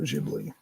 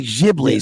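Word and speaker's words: Ghibli: almost positive was a studio jibli you say jibi somebody else said gibli recently I pronounced different ways I don't yeah it's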